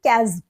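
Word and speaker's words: chasm: कर सकते हैं 157 अब इसको हम किस तरह से प्रोनाउंस करेंगे इसको बोलेंगे कजम कजम ठीक है ये एक नाउन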